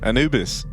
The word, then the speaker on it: Anubis: Obviously, the one time they didn't was here to open up Anubis. Or Anubis, as it's officially pronounced. Anubis.